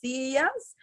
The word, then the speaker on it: sillas: And remember, double L, you can say, okay, you can pronounce it like Y, las sillas, or las sillas, strong, okay?